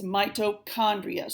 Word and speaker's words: mitochondria: you to do is take this CH underline it and write the letter K up above it so even though it is spelled this way it is pronounced this way so to help you pronounce it it's mitochondria so underline that CH